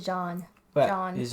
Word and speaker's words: Jean: It's basically John.